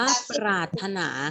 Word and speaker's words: ปรารถนา: เท่า นั้น นะ คะ อ่าน ว่า ปรารถนา ค่ะ ต่อ ไป ทาง ที่